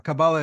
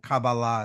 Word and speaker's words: Kabbalah: School of of Kabbalah or Kabbalah Kabbalah is like the Ashkenazi Jewish pronunciation and Kabbalah is like the modern Hebrew um pronunciation um but um so